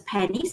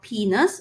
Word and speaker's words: penis: next penis all right it's not pronounced as pennies it's called penis going to be pronounced